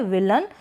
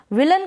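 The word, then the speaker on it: villain: में हो रहा है, विलन। विलन का मतलब है खलनायक। क्लियर हो गया? यहाँ पे विलेन प्रोनाउंस थोड़ा वो गलत हो जाता है, विलन इसका करेक्ट प्रोनाउंसिएशन है।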